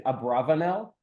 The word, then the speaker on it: Abravanel: his name is, because everyone usually uses the word Abarbanel, although the more likely pronunciation is Abravanel, which was actually not just one person.